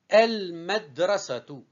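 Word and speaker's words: المدرسة: El, med, ra, se, tu. Je répète, el, c'est une syllabe avec soukoun. Med, c'est une syllabe avec soukoun. Ra, une syllabe simple. Se, une syllabe simple. Tu, une syllabe simple. Donc, je répète la prononciation, c'est el-madrasatu.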